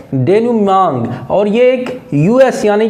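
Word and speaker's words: denouement: भी आपको आता है डी ई एन ओ यू ई एम ई एन टी इसको आप डेन मांग पढ़ेंगे क्या पढ़ेंगे डेन मांग और यह एक यूएस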